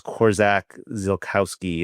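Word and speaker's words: Korczak Ziolkowski: I think it's Korzak Zilkowski is the way to pronounce it.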